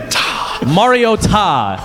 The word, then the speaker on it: Mariota: how history and kindness work with that enunciation Mariota and that is smokes how you pronounce his name here and I'm like no